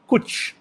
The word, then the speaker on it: cwtch: you a question, and that word is coach, which I think is spelled CWTCH. Is that correct, sir? Kuch.